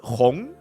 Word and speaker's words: Hong: And in case you guys didn't know, Hui Hong, the word Hong, it quite literally stands for red. Like, it's the same pronunciation as red.